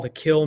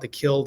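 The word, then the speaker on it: Kiln: Yes, he's from a place that we call the Kill, Mississippi. It's spelled K-I-L-N, but we call it the Kill down here.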